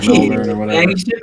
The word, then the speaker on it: Melbourne: Melbourne? Melbourne. You're supposed to say it really weird. It's Melbourne. No, you're supposed to Melbourne. like drop one of the syllables.